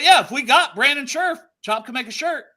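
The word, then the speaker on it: Scherff: still it's sherff right because it's so close to sheriff it's it's fine on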